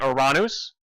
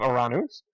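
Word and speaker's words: Uranus: in the past uh she pronounces it iranus so that's how i'm going to pronounce it today i like that that's the greek pronunciation of iranus has an asterisk because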